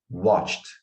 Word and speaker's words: watched: eles falando, por exemplo, watched. Nessa pronúncia de ed no passado, eles não falam muito watched, watched. É meio que quase um efeito sonoro, assim, ó, watched. I watched, you watched, he watched.